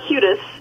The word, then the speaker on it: Hudis: but it's a hudis um it's it's pronounced um with the my my husband calls it the Irish U so it's hudas I get huus sometimes but it's hudis hu hudis I'm glad you have